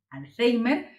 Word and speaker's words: alzhéimer: a los enfermos de alzheimer en español esta es la grafía y la pronunciación alzheimer es decir a personas